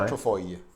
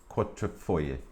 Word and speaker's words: Quadrifoglio: When you read it, it says foglio. Yeah, but it's foyer as That's how you pronounce it.